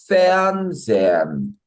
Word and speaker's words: Fernsehen: 근데 분리동사는 방금 본 것처럼 Fernsehen 에서 이 애초에 발음을 할 때조차 그 앞에 전철의 의미가 중요하기 때문에 거기에 강세를 먼저 줘서 발음하고요.